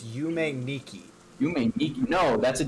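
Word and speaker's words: Yume Nikki: It is not Yumi Neko. It is Yume Niki.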